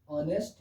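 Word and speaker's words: honest: मगर इसमें क्या है, एच जो है वो साइलेंट है। अगर हिंदी में इसको हम पढ़ते हैं तो ऐसे पढ़ते हैं ऑनेस्ट।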